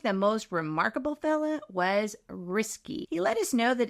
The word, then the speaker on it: Risky: But I think the most remarkable fella was Risky. He let us know that it's pronounced risky, like risky business.